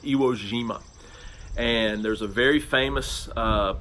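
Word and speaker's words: Iwo Jima: j i m IA it's not pronounced Iowa Jima but that's what it looks like it's pronounced gyro Jima and there's a very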